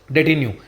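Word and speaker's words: detenu: ठीक है, इसलिए मैंने यहाँ पर उनका प्रोनाउंसिएशन लिखा है। तो क्या लिखा है? डेटिन्यू।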